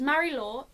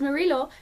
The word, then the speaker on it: Marie-Laure: It follows Marie-Laure, oh that was the most English pronunciation ever. It follows Marie-Laure, who is a young